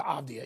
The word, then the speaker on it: Avdija: I'm not going to get into Avdija even though I'm finally pronouncing it correctly.